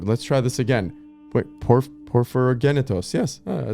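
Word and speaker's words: Porphyrogennetos: The Byzantine emperor and historian Constantine VII, Porphyrogenitos. Wait, let's try this again. Wait, Porphyrogenitos.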